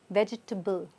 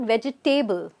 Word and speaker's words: vegetable: everybody gets it right it's vegetable not vegetable right I know there's a table here but we are not putting anything on the table as yet it's vegetable so this is very subtle vegetable vegetable okay